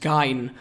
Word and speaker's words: Gein: Incidentally, I'm pronouncing his name the way I've heard other people pronounce it, even though I know enough German to know that when the E comes before the I, it should be pronounced Gein, but people would get annoyed that I said it differently.